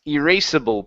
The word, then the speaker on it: erasable: Erasable pen. Erasable. Okay. Good. So the two meanings down in erasable pen. The two meanings down in erasable pen. Okay, pronounce that S.